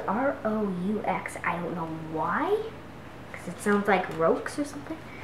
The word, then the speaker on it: roux: So the next step is to make the roux, and it's a French word, just like français, but it's spelled R-O-U-X.